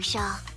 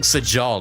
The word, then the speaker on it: Shaw: Thank you, Shaw. You were a big help. Oh, that's how you say your names. Sha. I've been pronouncing Sajal this whole time.